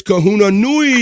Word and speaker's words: Kahuna Nui: I learned how to say his name the right way. It's Kahuna Nui is coming in on BF Live today.